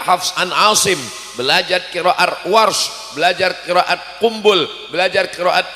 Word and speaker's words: Warsh: Saya dikit-dikit tahu qiraat Warsh karena guru Warsh, bukan Waras.